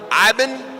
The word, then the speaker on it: Iben: Iben. I've said it wrong for 10 years. It's Iben, huh? Iben, I figured it out 7 seconds ago. He pointed at his eye and said, Ben, I-Ben.